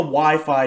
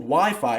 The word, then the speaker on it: YFI: the wi-fi token now the yearn finance token is called wi-fi however it's spelled yfi obviously this probably shouldn't be pronounced wi-fi but this is how the management team of yeon pronounce it so this is how i will also pronounce it so yearns development team